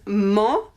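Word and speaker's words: -ment: same but we use mo m-e-n-t mo but we don't pronounce the t we use mo at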